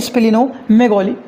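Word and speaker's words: splenomegaly: जो पहला आया हुआ है इनका वो है स्पिनो मैगोली क्या आया हुआ है हम लोग बात कर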